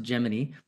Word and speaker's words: Gemini: I would pronounce it Gemini, but I know they pronounce it Gemini.